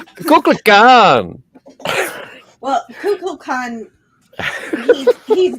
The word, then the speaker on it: Kukulkan: Yeah, it's Scotty, say it right. It's Coco for CuckooCon. Kukulkan.